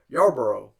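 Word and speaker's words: Yarbrough: brought in a different director and Jee yarber yarboro that's how you pronounced his name I'm bath name I'm sorry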